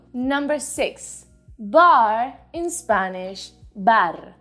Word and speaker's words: bar: bar in spanish bar my only tip for you is that you try to get rid of that er sound as soon as you start speaking spanish and let me show you what i mean bar is definitely not the same as bar in spanish the r sound is much more even when it's alone what if we go